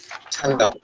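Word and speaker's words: 장갑: ছাঙ্গাপ বানানো হচ্ছে জাঙ্গাপ, কিন্তু আমরা উচ্চারণ করবো ঝাঙ্গাপ।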